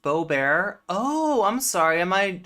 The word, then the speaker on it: Boebert: at each other over it is pronounced Beau bear oh I'm sorry am